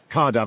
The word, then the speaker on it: Caerdav: Let's talk about Cardav. I got to pronounce it correctly because it's car is the Welsh for Cardiff and then AV is aviation.